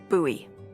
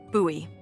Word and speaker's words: Bowie: no warning, he pulls out this huge rusty Bowie knife. It's actually pronounced Buoie. What? No, it's like the last name like David Bowie. Different last name. Buoy.